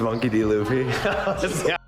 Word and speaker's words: Monkey D. Luffy: It's Monkey D. Luffy.